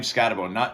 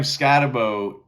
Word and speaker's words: Skattebo: So now Cam Skattebo, or Skattebo, I'll have to talk to him about what is the pronunciation. I believe it's Skattebo, even though it's only one O, it doesn't make much sense.